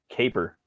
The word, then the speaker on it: Kaper: I've heard of Kipper, but the one I'm talking about is Caper. It's spelled Kaper.